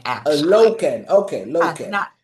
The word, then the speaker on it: Lokken: Is the last name pronounced properly? It's Lokken, actually. Lokken.